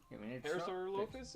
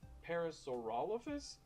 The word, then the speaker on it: Parasaurolophus: our musical parasaur lus parasaur lopus is is that how you say it for the longest time I used to say Parasaurolophus but I think that's wrong so dinosaurus oh and we're